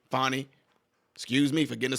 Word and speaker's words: Fani: they're going to bring in somebody else should fny fonnie excuse me for getting the sister's name wrong should fonny Willis get pulled off this case do you